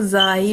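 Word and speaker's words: زاي: इसको जाई भी बोलते हैं अरबी में। ज़ ज़्यादा साउथ एशियन प्रोनाउंसिएशन है।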